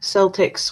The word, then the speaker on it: Celtics: no uh D says Tiff said it right Celtics with an S sound okay uh Julian's asking